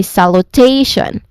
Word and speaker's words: salutation: Now here the primary stress it falls on the third syllable t the one with the dip thong. So the first syllable has a secondary stress but yeah the stressed um the more emphasized syllable here is the third syllable. So we say salutation again salutation.